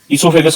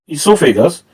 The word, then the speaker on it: oesophagus: ईसोफेगस के spelling कुछ जगह पर ई से शुरू हो रहे हैं और कुछ जगह पर ये OESOPHAGUS लिखे जाते हैं।